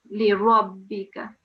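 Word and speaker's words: لِرَبِّكَ: mashaddad, the prolonging, and the ra here needed to be pronounced with a round mouth because we are carrying a fatha on the top. So it has to be a full round mouth on the ra.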